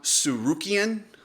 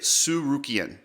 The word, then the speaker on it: Tsarukyan: Charles Olivera versus Arman suian I think that's how you say it suian uh somebody spelled it out phenetically I think that's how it goes that was a great